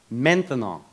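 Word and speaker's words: maintenant: Menthanol. Three syllables.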